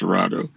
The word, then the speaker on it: Cerrado: It's called the Cerrado. It's a Portuguese word, Cerrado, pronounced Cerrado.